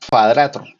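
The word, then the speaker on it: kvadrato: entonces nueve cuadrados cuadrados se pronuncia en esperanto cuadrato cuadrato Perdón cuadrato entonces aquí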